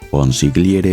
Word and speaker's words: consigliere: hijo Corleone le dice consigliere mío Marlon Brando pronuncia la G en consigliere cualquier siciliano sabría que la G en esta palabra es muda cuando se oye a